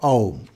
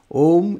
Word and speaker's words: Aum: It describes the significance of Aum. And it says, Aum iti etad aksharam idam sarvam tasyopavakhyanam bhutam bhavat bhavishyat iti sarvam omkara eva yachanyat trikalatitam tadapi omkara eva. It says, Aum, A-U-M. A-U-M-A, Aum, this syllable is all this.